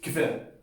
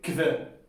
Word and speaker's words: hver: Y me ha dicho sí, o sea, que suena como kver. O sea, no hace falta esforzarse para decirlo como kver, con H, es simplemente kver, kver.